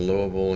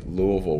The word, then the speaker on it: Louisville: i flew in from uh i was in louisville and came in yesterday and then right over